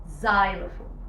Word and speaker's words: xylophone: طيب لو جت في الاول، لا، لو جت في الاول ليها نطق مختلف زي الكلمه دي xylophone، ز بتتنطق زي، xylophone xylophone or xerox xerox.